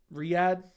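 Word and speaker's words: Riyadh: same time rad season okay Riad it's Riad I was saying it right way the first time okay Riad season Jon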